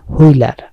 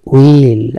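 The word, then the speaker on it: wheel: হুইল, হুইলার, আসলে এটা হুইল না, এটা হচ্ছে উইল, উইলার, ফোর উইলার।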